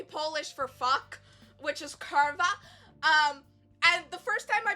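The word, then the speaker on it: kurwa: Apparently W is V in Polish.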